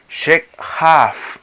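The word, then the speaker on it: shekját: Shekhaf. Se escribe S, H, E, K, J, una A con tilde o acento y una T.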